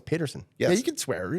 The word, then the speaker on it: Paterson: Paterson.